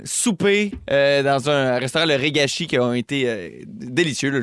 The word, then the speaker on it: Regachi: R-E-G-A-C-H. C'est pas S-H-I. Comme Ouais. ça se prononce? C'est ça, Regashi.